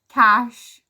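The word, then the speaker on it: cache: goodness that word's everywhere it's pronounced cash great so now if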